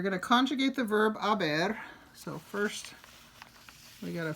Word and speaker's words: haber: So the verb haber is yo he, tú has, él ha, ella ha, usted ha. Silent H when I say this. I'm not saying he has, ha, right?